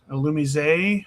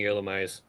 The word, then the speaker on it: Illumise: Gardevoir versus Illumise, which apparently is the proper pronunciation from what I've been told. It's supposed to be that French pronunciation. I will continue saying Illumise.